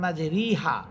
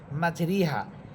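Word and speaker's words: مجراها: কিন্তু আমরা ওইখানে ওই জেরের উচ্চারণটা আমরা একার দিয়ে পড়বো। জেরের উচ্চারণ একার দিয়ে পড়ব। তাহলে সেখানে শব্দটা আছে মাজেরিহা। মাজেরিহা র নিচে আছে খারা খারাজের। এজন্য এখানে রস্বীকার ব্যবহার করা হয়েছে। মাজরিহা এর জায়গায় আমরা পড়বো মাজেরেহা।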